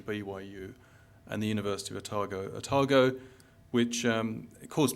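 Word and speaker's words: Otago: to New Zealand because I naturally said ATO and um kiwi immediately said to me we just think of Wells Fargo it's a tago so um it may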